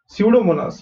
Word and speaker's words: Pseudomonas: Pseudomonas, यहाँ पे P silent है, okay?